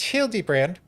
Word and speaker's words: Hildibrand: It's pronounced Hildy Brand.